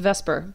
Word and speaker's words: VSEPR: and today we are going to talk about vasper Theory and hybridization hey there starfish um so first of all um Vesper Theory you may notice one problem which is that it's pronounced Vesper but it's v s e p but um